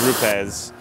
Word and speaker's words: Rupes: on YouTube saying, you're saying it wrong, it's Roops. I said, no, I think it's Rupes.